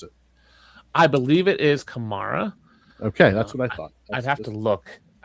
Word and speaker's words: Kamara: I believe it is Kamara.